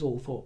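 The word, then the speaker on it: Althorp: England that has two official pronunciations according to the BBC and it's almost as if he bowed to the pressure eventually and began referring to it as all Thorp himself and all Thorp is very much what I go with dayto day because it's that's how it's how it looks and how it should sound uh ult trp is going back a few centuries and there was an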